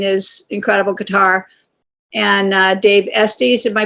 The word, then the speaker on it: Estes: And Dave Estes, am I pronouncing that correctly, Drake? Osti, thank you.